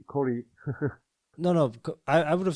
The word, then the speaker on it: Koray: How do you pronounce your name? My name is Koray, in my real name, but my brand name is Idamai Forge.